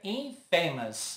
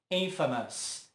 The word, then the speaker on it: infamous: E essa tem a palavra famous, então tende-se a dizer infamous, mas a pronúncia correta é infamous, infamous.